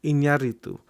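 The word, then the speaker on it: Iñárritu: time it's it's um alejandro inyaritu so people say it wrong in the u.s but it's inaritu because there's a little accent in the on the first on the eye uh anyway but i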